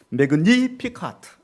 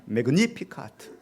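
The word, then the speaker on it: Magnificat: 매그니피카트 이렇게 되어 있어요. 발음의 액센트가 니에가 들어있더라고요. 매그니피카트, 바로 마리아의 성가.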